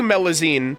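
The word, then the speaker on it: Melusine: stories of Lea would you really thank you meloine is that how you pronounce it yep your pronunciation great well then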